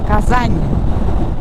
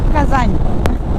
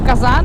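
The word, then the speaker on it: Казань: It's a very interesting letter because it doesn't have a sound. What it does, it makes the last letter softer. So in case of Kazan, in Russian you pronounce it as Kazan. A nice soft ñ. Kazan. And if you say Kazan, it actually means like a big cooking pot.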